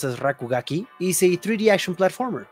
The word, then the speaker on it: RKGK: so what is RK GK rkgk or it's pronounced as rakugaki is a 3D action platformer you play as